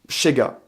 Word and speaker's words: ZEGA: Et on rappelle aussi que le Z se prononce CH dans la langue nesquatienne. Donc du coup, Chega.